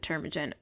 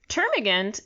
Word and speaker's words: termagant: calls her eight termagant I think he pronounces it term agenda but termagant is such a weird word for